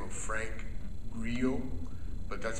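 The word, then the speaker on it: Grillo: is a gentleman by the name of Frank Grio but that's spelled GI g g r i l l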